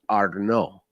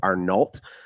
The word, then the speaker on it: Arnault: And I believe it's pronounced Arnault, but it's spelled like Arnault.